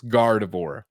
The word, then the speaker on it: Gardevoir: then ignacio rojas says gardevoir is how i say this gardavor thank you cardiff okay